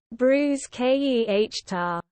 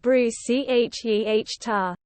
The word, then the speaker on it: bruschetta: Bruschetta when pronouncing bruschetta the CH is a hard k sound bruise k e h tar so if you pronounce it Bruce c h e h tar as I occasionally do